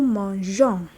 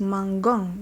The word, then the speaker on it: mangeons: Je mange, tu manges, il mange, nous mangeons. Without the E is mangon, which is wrong.